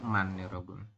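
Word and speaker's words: 많: dibacanya adalah Iya betul Kita membacanya itu adalah man dibacanya itu hanya Eman seperti ini hanya miem a n nah hanya saja kenapa Hnya diabai diabaikan seperti itu ya ini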